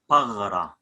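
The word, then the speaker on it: ܦܓܪܐ: Usually in English, the sounds r, we give it gh, r, gh, like par, pagra, pagra, pagra. the body. Paghra.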